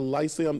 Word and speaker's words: Lyceum: We're talking, of course, Joseph and the Amazing Technicolor Dreamcoat taking place right here at the Lyceum Theater.